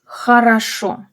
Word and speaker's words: хорошо: And хорошо, the stress is on the final syllable. Хорошо. And both are stressed or sound reduced to A.